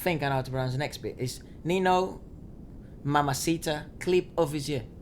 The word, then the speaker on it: Ninho: those very good actually I think you did say it right because a the age in French like it in Spanish is silent oh really yeah oh